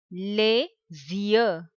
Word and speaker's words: les: the sound is the last letter s will be silent les